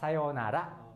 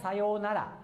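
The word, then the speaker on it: さようなら: Ini intonasinya biasa sayonara ya, sayonara ya, sayonara. Tapi mungkin kadang-kadang atau sering orang Jepang sebutkannya sayonara. Jadi kalau ini bukan u tapi o ya, tetapi tetap tulisannya sesuai yang ini ya, sayonara.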